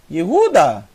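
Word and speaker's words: יהודה: então e Ru e a última são três sílabas o d mais o a euda a palavra euda quer dizer louv louvor de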